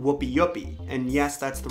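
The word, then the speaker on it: wupiupi: It's called Whoopi Yupi. And yes, that's the right pronunciation.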